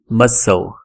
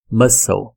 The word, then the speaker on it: muscle: no final clim eh temos mais um aqui muscle muscle mus não é mus não é mus sei lá